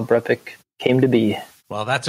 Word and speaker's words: BrEpic: you get it a lot brepik it's not BR epic why brepik and am I pronouncing it right yes thank you my wife